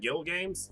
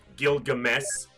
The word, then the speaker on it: Gilgamesh: We got Frosted, we got Buffalax, we got Ragnarokia, Gil Games. Yeah. Gilgamesh.